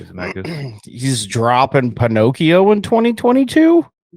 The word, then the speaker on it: Zemeckis: Is that how you say it? Zemeckis. Maybe Zemeckis. I say Zemeckis.